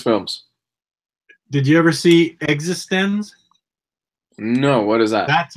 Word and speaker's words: eXistenZ: It's spelled like existence, but it's pronounced existenz.